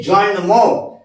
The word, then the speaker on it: জন্ম: সাথে ম যুক্ত হয়েছে জন্ম তাহলে ম উচ্চারণ হচ্ছে অবশ্যই করতে হবে মঙ্গলটা নগণ্য এই ছোট্ট